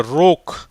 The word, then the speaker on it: rogue: அப்போ அந்த யூக்கு உச்சரிப்பு இல்லை, ஈக்கு உச்சரிப்பு இல்லை.